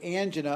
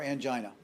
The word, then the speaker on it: angina: lead to what's called angina or angina you hear it pronounced both ways now we don't hear